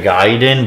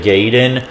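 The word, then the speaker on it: Gaiden: getting the Y from there is no Y in it so how would it be ninja gayen sure it has an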